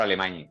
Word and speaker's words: Alemany: plazo, que es Pedro Alemany, el jugador, este apellido que acaba en Eñe, sí, que se pronuncia, no llega a ser ni Eñe ni una I.